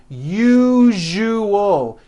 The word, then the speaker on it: usual: syllables you jus oh that second syllable jus the one with the underline needs to be voiced put your hand on your throat and feel for the vibration in the second syllable you jus Oh now put it together usual usual like that okay now try unusual